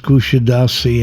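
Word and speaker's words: Kuşadası: The name is pronounced Kushidasi in Turkish as the first S has an accent.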